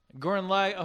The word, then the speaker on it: Gurren Lagann: Gurren Lagann. Okay. Lagann.